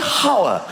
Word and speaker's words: hour: Why is there an H? The silent H. Nobody has ever said, "I'll see you in an hour.